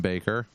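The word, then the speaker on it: Bakker: Baker so Jim Baker which is with two K's so I don't know why it's Baker instead of backer but nobody asked me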